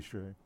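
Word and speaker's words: Hsieh: Casey Shea. Casey. I may be mispronouncing his name. H-S-I-E-H. Yeah. I see. Say.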